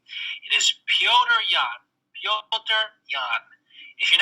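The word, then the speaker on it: Petr: anyone who is wondering how to pronounce the pronounce the current interim phantom weight champion's name it is piotr young if you're not going to say pyotr say peter that's fine you can anglicize it it's not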